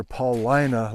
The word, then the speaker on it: Paulina: flow a few weeks ago at newberry near paulina lake thank you for the correction on how to pronounce that paulina so some of you were